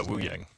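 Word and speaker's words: Wuyang: I'm not familiar with Wu Yang, if that's how you pronounce. Yeah, Wu Yang.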